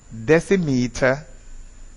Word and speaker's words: decimeter: If the vowel is an A or an O, it is dec. If it is an I or a C, it is des. So it is decameter, decimeter, and decimal.